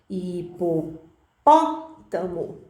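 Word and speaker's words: hipopótamo: antepenúltima sílaba da palavra por exemplo e pô pótamo aí uma proparoxítona parece muito difícil sim uma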